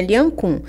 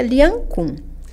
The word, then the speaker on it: Lian Gong: Sim, é Lian Khun. Escreve-se Lian Gong e se pronuncia Lian Khun.